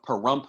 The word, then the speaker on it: Pahrump: one from a place called ash meadows outside the town of pahrump which rhymes with dump nevada up at the